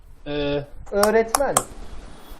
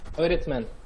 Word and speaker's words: öğretmen: When you see this letter, it's usually before a vowel sound. So what you do is basically make the vowel sound longer. Okay, let's try it. Repeat after me. Öğretmen.